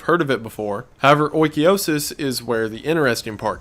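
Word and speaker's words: oikeiosis: Oikiosis, and according to the internet that is how it's pronounced, I looked one up this time, is closely related to ideas of Stoicism.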